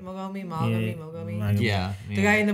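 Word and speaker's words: Mogami: Mogomi?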